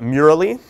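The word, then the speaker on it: Mural: it off because I think it's fantastic called Mur uh it is spelled mu R A L.L um we'll post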